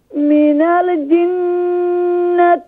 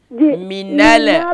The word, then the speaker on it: من الجنة: شاء الله next آية من الجنة والناس same here when you're joining noon with lam منال منال this is wrong من الجنة من الجنة من الجنة